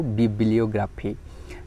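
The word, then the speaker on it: bibliography: Next next word T रहिछि बिब्लियोग्राफी, pronunciation मने रखंतु बिब्लियोग्राफी।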